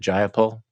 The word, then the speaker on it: Jayapal: We have the head of the Progressive Caucus, who's, can you pronounce her name? Because I don't want to embarrass myself. Is it Jayapal?